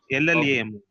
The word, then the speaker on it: llamo: That is ILAMO or LLAMO. LLAMO. So it's pronounced as Yamo. Yamo. llamo.